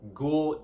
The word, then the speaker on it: Ggu:ll: band ghoul off of consoling sounds and yes ghoul is how you pronounce this band name it's very creatively spelled